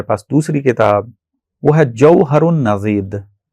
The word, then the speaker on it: جوہر النضید: ایک کتاب جو اسی لیول میں موجود ہے ہمارے پاس، دوسری کتاب، وہ ہے جوہر النضید، ضاد کے ساتھ، جوہر النضید.